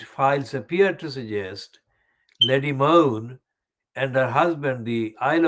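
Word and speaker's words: Mone: moon it is spelled m-o-n-e and it is pronounced as moon like m-o-a-n relating to the ppe business awarded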